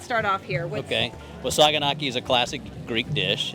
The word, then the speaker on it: saganaki: where we're headed we are here at the saganaki booth is that correct how you say it